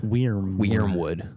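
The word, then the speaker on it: Wyrmwood: And, Wormwood, it's spelled WYRM Wood. Wormwood, which is the name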